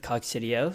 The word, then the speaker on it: Coccidio: And presidio rhymes with Coccidio, so that's a good way to remember it.